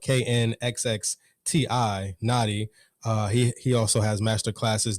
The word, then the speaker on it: Na'khi: And that's spelled KNXXTI, Na'khi.